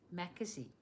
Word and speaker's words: Mackesy: How did we decide it's pronounced? Yeah. Mackesy.